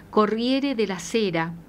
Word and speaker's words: Corriere della Sera: Francisco que fue publicada en el diario italiano Corriere de la Cera, si así se pronuncia, que se edita en Milán y este diario es el de mayor difusión en Italia.